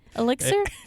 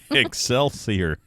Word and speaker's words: Excelsior: Elixir? Excelsior.